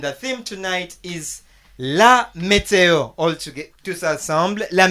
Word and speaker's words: météo: on the letter is, there is an accent that is there. It is sort of like a stick, but it faces a certain direction, which guides our pronunciation. So when you find it, don't think that they made a mistake. It has to be there, and that gives us our pronunciation.